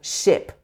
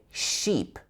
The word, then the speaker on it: ship: Instead of ship, you would often hear sheep, sheep, sheep, but it should be I, I. Your tongue is at the front of your mouth, but this is a short I sound, much shorter vowel.